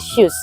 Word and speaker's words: SUSS: dilihat dari brand kita namanya aja shoes sebenarnya bacanya shoes gitu loh Ya itu pertama